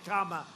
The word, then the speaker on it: Kamala: booker and you had kamala you know if you pronounce her name wrong she goes crazy come on like a comma it's like a comma she's like a comma and by the way